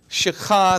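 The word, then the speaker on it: שחה: tent amen so here the word prostrated is shakha that's spelled s h a c h a h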